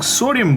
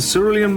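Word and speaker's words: cerulean: doing a workshop and I was um pronouncing serum blue and people thought that I'm saying sodium blue it's a ceran blue and I'll put the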